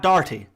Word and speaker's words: Doherty: you are not irish if you say his name in an irish accent it's easy it's very easy you can say oh his name is mad darty it's dirty what do